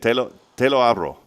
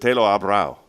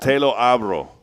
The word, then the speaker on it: te lo abro: Am I saying that right? Yes. I did. Te lo abro. Mm-hmm. Okay, good. Or is it te lo abrao? No. You said it right the first time.